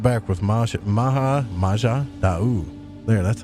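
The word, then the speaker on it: D'Aoust: Look, guys, we'll be right back with Maja Da'u.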